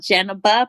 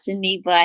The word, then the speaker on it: Jeneba: this is your girl Jenna ba pronounced Jenna but not Ginebra he will say my